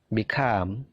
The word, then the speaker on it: become: Become. Begin. Jadi perhatikan stressingnya. Stressingnya punyanya come, punyanya gain, punyanya leave. Jadi stressingnya itu di suara yang kedua.